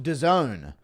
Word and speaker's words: DAZN: It's pronounced DAZN. Sounds like some hood nightclub that Happen Ace might frequent.